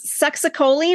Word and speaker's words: succinylcholine: It's succinylcholine, I believe, is the way the people I worked with called it.